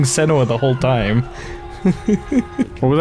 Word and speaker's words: Senua: Why do you pronounce it Senua? I don't know. I mean, they've been saying Senua the whole time.